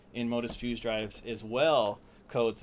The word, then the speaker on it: Enmotus: Enmotus.